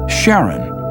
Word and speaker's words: Charon: Christie suggested the name Chiron after the ferryman of Pluto's underworld in Greek mythology, but preferred to pronounce it Charon, more like his wife's name, Charlene.